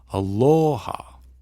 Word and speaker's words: aloha: So like in aloha, you emphasize the o, aloha, as opposed to aloha. You don't say aloha. You don't say aloha. You say aloha.